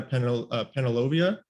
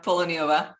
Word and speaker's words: Poloniova: We have Penelovia. Did I pronounce that right? No, it's actually Poloniova. Penilova.